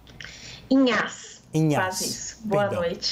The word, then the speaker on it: Inhasz: Antes de tudo, eu gostaria de perguntar, a pronúncia está correta? Inhas, é isso, professora? Inhas.